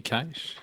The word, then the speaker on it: Cache: I just want to say that Cache is the correct pronunciation in Australian English, which is an actual form of English, just like American English or British English.